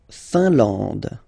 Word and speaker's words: Finlande: La Finlande. I-N here, nasal, un. A-N, nasal, en. And then D, final E, not pronounced.